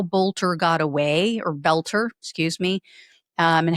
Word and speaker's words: Boelter: These have been released in the past couple days about Vance Belter. Um, and I apologize, I was apparently saying his name wrong. It's not Bolter.